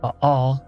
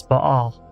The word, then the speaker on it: Baal: Baal, one of the Canaanite gods, also called Baal, which is the way I prefer to pronounce it, is the prototype for the lightning god across all cultures, globally.